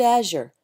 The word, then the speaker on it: azure: For example, the word azure. It's spelled with a Z, but the actual pronunciation involves rounding the lips as you say the Z, so it's a completely different sound than the Z in zebra.